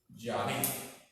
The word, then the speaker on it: Yahvé: Y el hebreo se lee de acá para allá. Así se lee. Yahvé. Así se lee. Entonces, se pronuncia Yahvé. Así se pronuncia.